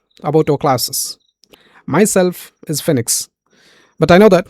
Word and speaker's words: FYNEX: Okay, I know it's pronounced as a FYNEX, and I'm from the Green Zone Academy.